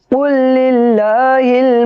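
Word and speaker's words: قُلْ لِلَّهِ: दोस्तों, ये जो लाम देख रहे हैं, ये लाम को नहीं पढ़ेंगे, काफ को आगे वाले लाम से मिलाएंगे जिसके ऊपर तशदीद है। इसको हिज्जे इस तरीके से करेंगे। काफ लाम पेश कुल, लाम लाम जे लिल, कुल लिल, लाम खड़ा जबल्ला, कुल लिल्लाह हाजिर ही, कुल लिल्लाही। तो इसको इस तरीके से बोलेंगे, कुल लिल्लाहिल मशरिक़ु वल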